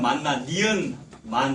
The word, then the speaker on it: 만나: 이거 만나, 그 히브리어 발음 만나, 니은의 난데 이제 시옷 만나로 쓰시는 분이 있어요. 그거 다시다, 만나는 다시다잖아요. 히브리어 만나, 니은 받침의 만나, 히브리어입니다. 그게 이제 예수님 의미하는 거지 않습니까?